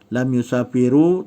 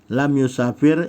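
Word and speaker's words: لم يسافر: ibrahimmu tak boleh bacanya lam yushafiru tak boleh bacanya lam yusafira dia mesti sukun dia mesti mati lam yusafir Ibrahim karena berubahnya Amil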